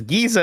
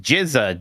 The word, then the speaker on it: Giza: Turbo Shot says Giza is pronounced Jizza, Jeff. Yeah, like Star I Wars.